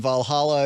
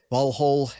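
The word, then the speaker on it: Valhöll: on my show I I try to do Old Norse pronunciations I'm not perfect at it but yeah I do say things like ball hole and uh othen for example but now we're having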